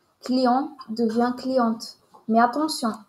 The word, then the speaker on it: client: lettre E client devient cliente mais attention on ne prononce pas le T de client au masculin et on ne prononce